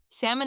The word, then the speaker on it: salmon: Salmon is pronounced seam an L is silent.